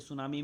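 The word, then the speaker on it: tsunami: सुनाओ मिट्टी लगा होता दोस्तों यह साइलेंट होता है ठीक है सुनामी में अतिथि याद रखिएगा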